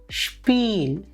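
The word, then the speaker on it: Spiel: ഉച്ചരിക്കേണ്ടത് ഉദാഹരണം സ്റ്റേയൻ സ്റ്റേയൻ അടുത്തത് എസ്സും പേയും വരുമ്പോൾ അതിൻറെ ഉച്ചാരണം ഷ്പ പുഷ്പയിലെ ഷ്പ ഉദാഹരണം ഷ്പിൽ എസ് സേഹ ഒരുമിച്ചു വരുമ്പോൾ അത്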